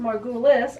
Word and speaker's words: Margulis: Now, my name is pronounced Margulis. I don't have the E in it.